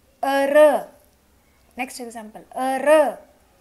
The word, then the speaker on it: heureux: Heureux. Next example. Heureux. This is not spoken.